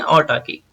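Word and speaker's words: autarky: आर जो है इसका साइलेंट रहता है जब हम प्रोनाउंस करते हैं, यानी इसको बोलेंगे ऑटाकी।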